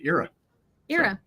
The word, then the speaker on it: Ira: IRA and the era because apparently to everybody in Asia uh and Africa and also parts of Europe uh you pronounce it era era yeah well you can